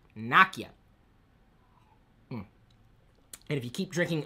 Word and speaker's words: Nokia: because Nokia makes it I'm sorry it's Nakia if you listen to some of the videos they produce Naka is how you say that that that that name that word Naka and if you keep